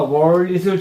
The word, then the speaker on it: wallet: 엄마치가 정확한 발음은월이 입천장에 붙으니까 wor월이에요. 근데 우리는 이렇게 길 가다가을 주었으면 내가 그걸 가져가야 돼요. 경찰에 알려야 돼요. 경찰. 예. 알리 이렇게. 내가 월릿을 주셨으면 경찰에 알리 알려야 된다.